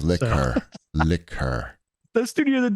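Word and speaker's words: Laika: You pronounce it Liquor, I believe. Liquor.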